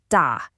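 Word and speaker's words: 大: This new character is pronounced da, and it means big.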